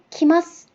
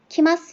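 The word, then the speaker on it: 来ます: 이 한자의 발음이 쿠였는데 여기서는 키마스 키마스 이렇게 키로 바뀌죠.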